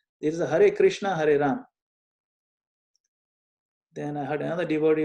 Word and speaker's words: Hari Rama: what do you charge hey mama hey mama mama mama hey hey what is this hey mama no no it's Hari Rama so we find all